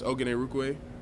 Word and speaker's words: Orhorhoro: So just remember that the H's are silent, and yeah, but it's been a lot of pronunciations. First name, isn't that really long? Yes, it's Orhorhoro.